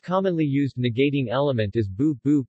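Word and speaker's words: 不: used negating element is bubu pronounced with second tone when followed by a fourth tone this can be placed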